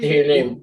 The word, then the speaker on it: Tehillim: Tehillim.